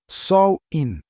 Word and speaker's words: Samhain: Era uma época associada à morte e eles celebravam um festival chamado Samhein, que pronuncia-se Sol In.